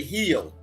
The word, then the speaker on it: Rio: And then the H in Portuguese is no, the R in Portuguese is pronounced like the H. Like They say Rio. They say heel. Yeah, heel. Yeah. They say heel. They don't say Rio. We say Rio because that's English language.